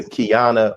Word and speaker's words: Qiana: and also a member of Kingdom Come, Sister Qiana Muhammad. Did I pronounce that right?